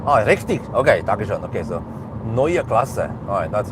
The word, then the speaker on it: Neue Klasse: Okay, so Neue Klasse, alright, that's how it is. Need to be able to pronounce it correctly, because I don't know how Germans, how Americans will call it.